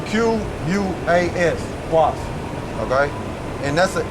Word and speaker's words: Quas: And Quas, let me make sure I pronounce it right. Let me make sure y'all bear with me. And that's a female, okay? Yeah, Quas. Yeah, Quas. Okay? It's Q-U-A-S, Quas.